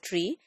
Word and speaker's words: three: Five is called five, pronounced as five, and three is always pronounced as tree.